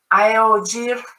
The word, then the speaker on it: iog: whatever it is so iog iog is how you pronounce the word tea and that's the the